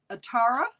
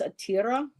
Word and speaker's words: Atira: Kim, the goddess that I got for you is Atara. Is that correct pronunciation, Heather? Well, I think it's Atira. Atira? Because there's an I there.